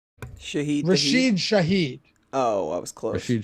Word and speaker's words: Rashid Shaheed: I know it rhymes. Yeah. His name is Rashid Shaheed.